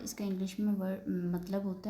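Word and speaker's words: moi: इसका इंग्लिश में वर्ड मतलब होता है मी। तो इसको हम मोई नहीं पढ़ेंगे इसको हम पढ़ेंगे मवा क्योंकि ओ आई की साउंड होती है व तो इसको हम क्या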